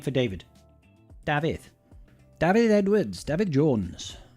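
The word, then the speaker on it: Dafydd: pronun pronun pronunciation David David buddy David it's the Welsh word for David or Welsh name for David so to be clear it's David DAV DAV so David I knew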